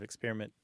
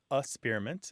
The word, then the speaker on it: experiment: So some people kind of skip the K sound. They say asperiment, which is kind of more of a childish pronunciation, but they're out there,